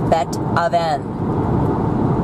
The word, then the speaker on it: Beethoven: Hayden very very similar then you've got Beethoven which is BET oven that oven and it means in